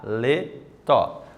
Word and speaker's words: paletó: não pode esquecer disso paletó Vamos lá ver como ficou pa paletó foi dividido em três sílabas certo mas essa divisão entre sílabas Eu percebo que acentuação está lá na última sílaba a prova nós chamamos essa palavra lá na última sílaba acentuada oxítonas certo então a